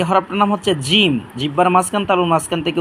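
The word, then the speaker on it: ج: এটা উচ্চারণ করি বা এ হরফটার নাম হচ্ছে জিম জিহ্বার মাঝখান তালুর মাঝখান থেকে উচ্চারণ করি তিনবার উচ্চারণ করি ইনশাল্লাহ জিম জিম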